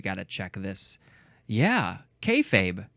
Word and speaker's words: kayfabe: of 2023 the first one is is it pronounced kayfabe let's check let's we got to we got to check this yeah kayfabe k a y f a b e it